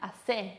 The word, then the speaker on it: hacé: Fíjense esa acentuación en la última sílaba.